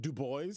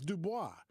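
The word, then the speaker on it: Du Bois: book and they say his name isn't dubo his name is Dubois he rejected the European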